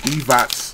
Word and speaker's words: Divac: a Toyota dealership and I think his last name is pronounced they said divots a lot uh in